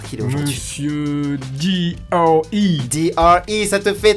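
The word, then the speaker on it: Dre: D.R.E. Ça te fait 3 points. T'as vu, j'ai fait un effort, j'ai prononcé Bah ouais, avec.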